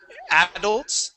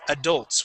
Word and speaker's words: adults: So we would not say adults. It's adults with the accent at the Adults. end of the word.